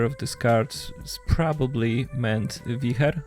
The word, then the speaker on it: Wicher: Some pronounce it Wicher, some say Wicher, because it's a Polish card, and Wicher is very strong wind.